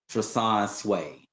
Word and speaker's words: Treson Swae: Like it's the flow of the name Trasan Sway.